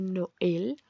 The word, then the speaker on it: Noël: Por ejemplo, está en la E de Noël para indicar que las dos vocales se pronuncian y no es un diptongo.